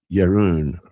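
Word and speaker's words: Jeroen: Uh his name is J E R O EN and I looked it up and I think it's pronounced like Yun or something like that.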